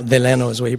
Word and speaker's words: Delano: What he used to say, Delano, Delano is the way he pronounced it.